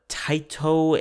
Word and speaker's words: Taito: Now, these are Square Enix, Capcom, Taito, and Sega. I don't know about that third one, if I'm pronouncing that correctly. I have not heard of Taito. Okay, Taito.